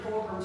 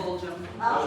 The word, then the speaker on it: Fulgham: Church and Fulcrum Street, there's probably not an R in that. How do you say that around here? Fulgham. Okay, alright. I got some southern in me, but I wouldn't pick Fulton for that.